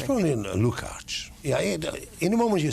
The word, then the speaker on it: Lukacs: Why do I pronounce it Lucas? Because it's great to my ear, because they cannot pronounce it the way it's pronounced in Hungary. It's probably Lukacs.